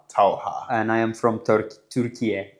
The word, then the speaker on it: Talha: So, I've been having a very difficult time pronouncing names. So, I want you to share your name again. Uh my name is Talha. Talha and I am from Turkey.